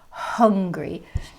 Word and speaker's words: hungry: your hand hungry and the sound after the h is an uh an uh sound it's not an ah sound like an angry angry has no h it's angry and the h sound is hungry jeff i am angry